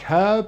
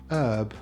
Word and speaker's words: herb: usually pronounced f and brits like herb and americans prefer herb there is a list